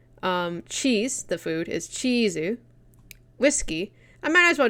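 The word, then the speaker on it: チーズ: or may not be some form of katakana pronunciation of it. Like cake, the food, is keiki. Cheese, the food, is chizu.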